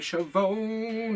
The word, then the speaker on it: Schiavone: And it was with Tony Schiavone.